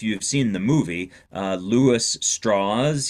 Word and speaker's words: Strauss: seen the movie, Louis Strauss. He pronounced his name Strauss. That was allegedly the southern pronunciation of what looks like Strauss.